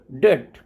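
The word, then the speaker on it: debt: व ट रहता है और टी से पहले अगर बी हो तब भी बी साइलेंट रहता है जैसे डेट डेट का मतलब कर्ज डाउट सटल तो इनमें बी जो है वो लिखा हुआ है बट फिर भी हम उसको बोलते नहीं है और ओनली हम टी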